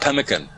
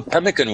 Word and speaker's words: pemmican: You know, I'm interested in something called pemmican.